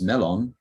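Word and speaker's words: 멜론: and uh many english words introduced via japanese pronunciation have been reformed so like the word melon in korean is melon and it was once called in korean meron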